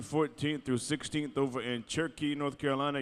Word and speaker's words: Cherokee: in cherkee North Carolina you notice how I said it the way they say it right turkey yeah that's the way you're supposed to say it there's no o in that word is there turkey yeah you got